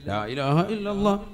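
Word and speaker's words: لا إله إلا الله: അള്ളാഹു അപ്പൊ ഒരെണ്ണം ആയി ലാഇലാഹ ഇല്ലല്ലാഹ് അവസാനം നീട്ടി ഹാന്റെ ഉച്ചാരണം കൊടുത്തു തന്നെ നിർത്തണം ഇതെങ്ങനെ ചെല്ലുന്നത് ലാ ഇലാഹ ഇല്ലല്ലാഹ് ലാ ഇലാഹ ഇല്ലല്ലാഹ് ഇന്നാ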